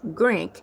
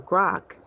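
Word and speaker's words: Grok: Musk AI chat box Grank, spelled G R O K or Grock.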